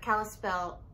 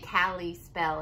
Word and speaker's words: Kalispell: of kalispell kalispell montana i always want to say cali spell and i know that's not how it's pronounced my aunt lives there like i've been there and i still want to say it the wrong way so i think we've